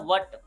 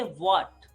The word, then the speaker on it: what: गलतियां की हैं कि इसको हम पढ़ते हैं वट, दैट, वट, दैट, इज, इट, बट. इस तरह से नहीं पढ़ेंगे, है ना. इसको पढ़ेंगे व्हाट. और जब आप व्हाट को प्रोनाउंस करते हैं, तो आपके जो लिप्स हैं, इनका ओ शेप के अंदर फॉर्मेशन होता है.